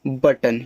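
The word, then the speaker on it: button: बी U double T ओ एन इसको पढ़ते हैं बटन।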